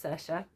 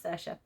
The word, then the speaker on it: Saoirse: It was Saoirse. I felt like an idiot after not knowing how to pronounce it, but yes, it was Saoirse.